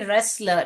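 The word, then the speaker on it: wrestler: Phogat is an Indian रेसलर इसको यहां पर डब्लू साइलेंट है ओके बेटा सो शी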